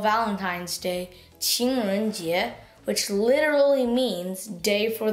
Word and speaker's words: 情人节: Now, people in China call Valentine's Day 情人节, which literally means day for the lover.